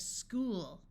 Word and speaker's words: school: sound of ah watch CH sounds like C in some words especially if the root word was Greek in this word oo says o so we have school a note that although